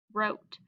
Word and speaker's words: wrote: Remember the W is silent. We have O, T. Word is wrote.